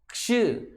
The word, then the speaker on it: क्ष: तो इसका उच्चारण क्या होगा, क्ष, क्ष, क्ष।